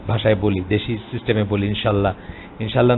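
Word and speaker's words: إن شاء الله: আমরা ইনশাআল্লাহটা অনেক সময় আমাদের দেশি ভাষায় বলি, দেশি সিস্টেমে বলি ইনশাআল্লাহ না বলে বলা উচিত ইনশাআল্লাহ। হামজাটা স্পষ্টত উচ্চারণ করতে হবে, ইনশাআল্লাহ, আল্লাহটা আলগা করে হামজাটা উচ্চারণ করতে হবে, তবে ঠিক আছে।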